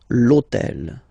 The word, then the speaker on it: l'hôtel: starts with H, but remember that in French we don't pronounce H, okay, so basically the first sound of the word is the vowel O, okay, so for the same reason, needs to disappear.